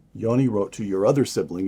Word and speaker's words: Yoni: Your older brother, Yoni, am I pronouncing that correctly? Yes. Yoni.